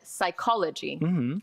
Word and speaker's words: psychology: It was that he didn't say the P at the beginning. He ignored it and said psychology.